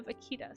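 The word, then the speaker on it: vaquita: No, it's actually uh Vakita. spelled like this. It means little cow in Spanish.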